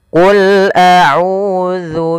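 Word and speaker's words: قُلْ أَعُوذُ: Qul a'udzu birabbin nas. Pada bacaan qul a'udzu, di sini ada qul a. Hati-hati jangan putus, jangan qul a. Tapi dia qul a'u, ya lam, sifat lam.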